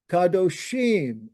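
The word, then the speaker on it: קדושים: By the way, that I am is pronounced im, not im. Im, kadoshim. Anytime you see an I am, that is an E sound.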